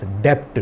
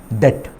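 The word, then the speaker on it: debt: I have heard a number of people pronouncing this word as डेप्ट, डेप्ट। नो, B silent, it इज डेट, डेट।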